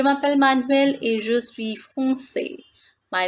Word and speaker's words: français: was saying je suis français. The pronunciation of this word in feminine form is française. Elle est française. She is French. And in masculine, we pronounce it like français.